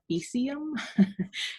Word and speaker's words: faecium: I actually just saw on Instagram a microbiologist post a slide of Enterococcus faecium, which is another way to pronounce faecium would be like faecium.